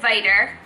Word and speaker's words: Viter: We created Viter, rhymes with fighter, energy mints for when you need that extra help.